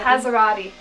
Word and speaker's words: Passerotti: My parents, like the Italian part of it it was like several generations back, so my parents didn't even pronounce it in an Italian way at all.